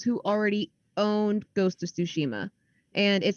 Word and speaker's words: Tsushima: I'm not sure exactly which way to pronounce it. It's Tsushima. Tsushima.